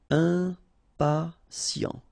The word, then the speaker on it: impatient: Okay, remember, final T not pronounced. And then you get this T, I and a vowel, so sien. Sien. Impatient.